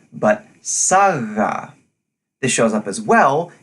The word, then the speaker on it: saga: as the pronunciation sub it's not a hard stop but instead of a more gentle fricative not saga but saga this shows up as